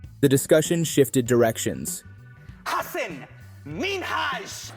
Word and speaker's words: Hasan Minhaj: However, the moment Ellen mispronounced his name, the discussion shifted directions. Hassan Minhaj. Say it again so that people hear it again. Hassan Minhaj.